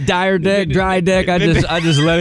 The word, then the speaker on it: Dyrdek: of them is sitting right next to me, Dyrdek. Did I say it correctly, man? That was Dyrdek. Dyrdek.